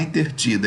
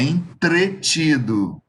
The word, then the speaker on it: entretido: ter entreter tá bom Tem gente que fala assim ah eu não te vi porque eu estava intertido intertido não é intertido É entretido tá Cuidado hein ah Entertainment